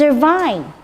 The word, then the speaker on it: Irvine: And you look up Irvine. Thank you. It's Irvine.